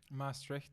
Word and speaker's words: Maastricht: Maastricht, yes.